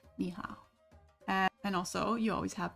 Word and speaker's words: 你好: So here we see that these, which you can hear, are pronounced ni hao.